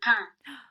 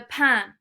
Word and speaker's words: pain: Le pain. Le pain. Not pain, because it looks a bit like pain, doesn't it?